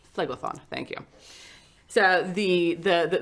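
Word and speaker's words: Phlegethon: sorry not sorry i don't remember how to pronounce the the level of hell that you're from floydlathon flegathon thank you so the the the door opens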